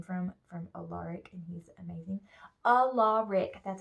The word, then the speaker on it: Alaric: Alaric, that's how you say his name. People say Alaric or Alaric or some other weird thing, I don't know.